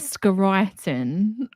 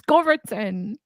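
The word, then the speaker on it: Scoriton: to pronounce it yeah I I have now decided to pronounce it correctly after being you used to call it scaran but it's scattin well um uh basically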